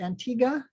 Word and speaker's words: Antigua: our next one uh they pronounce it antigua this is the same